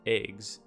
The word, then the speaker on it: AIGS: Since this acronym is pronounced EGS, it is surmised that the person who named these is a descendant of the absolute moron who named AIMS.